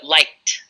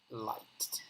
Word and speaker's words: liked: my students by saying, no, it's just the hard D. So liked, for example. So yeah, the students want to pronounce it as ed, and you just have to pretend it's just the D staring at you sometimes.